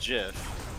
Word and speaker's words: GIF: yeah right yes whereas the creator of the gif said it's pronounced jiff yeah well the creator's